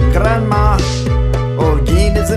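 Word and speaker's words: Granma: If you pronounce it correctly, it sounds like grandma.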